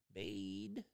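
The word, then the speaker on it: Baade: Do you say it like that when it's two A's? B-A-A-D-E? Bade.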